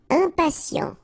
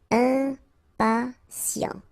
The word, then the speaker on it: impatient: Impatient. Okay, remember, final T not pronounced, and then you've got this T, I, and a vowel, so sien. Sien. Impatient.